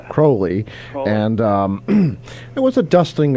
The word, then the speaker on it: Crawley: Most people here would pronounce it Crawley, but it's Crowley.